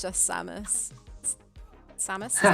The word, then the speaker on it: Samus: The helmet comes off and it's just Samus. Samus? Is that how you pronounce it?